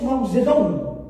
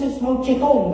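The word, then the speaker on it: Mao Zedong: and then there is Mazedon some people they pronounce Maeton but Ma Zedon uh he's the number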